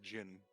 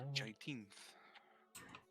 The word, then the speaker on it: Jiteenth: He would have introduced him to his Jiteenth is his name. For whatever reason, I was trying to say Jin. Not correct. You know? Jiteenth.